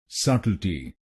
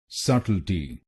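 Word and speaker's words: subtlety: तो बनेगा सटल्टी। सटल्टी। सट इल टी। सट इल टी। सटल्टी। सटल्टी। और यहां पर आपको पहले शब्दांश पर यानी SUBT पर जोर डालना है।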